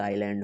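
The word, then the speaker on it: island: आईलैंड है तो एक आईलैंड होगा आईलैंड मतलब आई से पढ़ते हैं इसको ठीक है ठीक है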